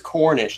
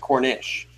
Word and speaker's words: Cornish: It's Cornish, not Cornish.